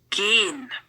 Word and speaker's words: gehen: Note the pronunciation. It might be really weird for you that the ha, the H in the middle, is not pronounced. But the H in the middle very often means that we have to pronounce the other vowel longer than usually.